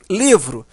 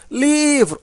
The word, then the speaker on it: livro: Livro. Livro. Observa que o li é a sílaba mais forte.